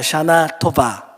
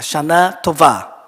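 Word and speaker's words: שנה טובה: 하겠습니다 한번 따라해 보실까요 샤나 도바 발음을 다시 하셔야 됩니다 도바 할 때는 부위 바램입니다 샤나 토바 잘하셨습니다 성지순례를 가셔도 될것 같습니다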